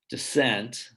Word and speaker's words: descent: pairs okay so if you start at the top left descent and then you look down toward the bottom right you have its pair decent okay and you can do these in many different ways but what you're really training here is perception whether they're hearing the stress on one syllable versus another okay and students like